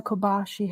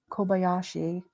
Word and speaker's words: Kobayashi: there's nothing like getting yourself pampered and Hannah Kobashi has been found safe. Oh, really? Thank God. Robbie, thanks for posting that. Where did they find her? Did I say her name right? Hannah Kobayashi? Kobayashi.